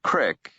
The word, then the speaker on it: creek: He reached a large stream, of the kind the locals called a creek and pronounced crick, and decided to follow it.